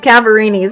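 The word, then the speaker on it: Cadaverini: I keep saying I don't know how to pronounce it at first. It's Cavarini's.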